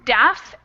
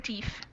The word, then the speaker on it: deaf: This one here is irregular. It's actually pronounced deaf, instead of deef.